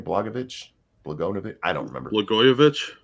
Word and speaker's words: Blagojevich: Blagojevich? Blagojevich. I don't remember. Blagojevich.